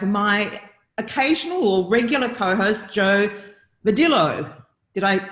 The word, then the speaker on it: Jo Vadillo: We are back with another episode of She Renovates today, and I have my occasional or regular co-host, Jo Vadillo. Did I pronounce that correctly?